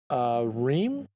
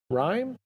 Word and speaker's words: Rime: But I started another game called Rime? Rime? I don't know. R-I-M-E. I think I would pronounce it just Rime.